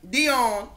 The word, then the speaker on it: Dion: Dion.